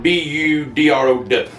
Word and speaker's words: Boudreaux: You spell that Boudreaux, but you can pronounce it Budrow.